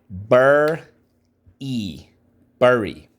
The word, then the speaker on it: bury: Bur-e, bury. We use the like in nurse.